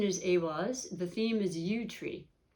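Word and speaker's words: Eihwaz: So the pronunciation is Awaz.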